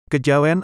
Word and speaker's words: Kejawen: Kejawen adalah kata bentukan yang berasal dari kata kejawian, dengan keluasan lidah orang Jawa diucapkan menjadi kejawen.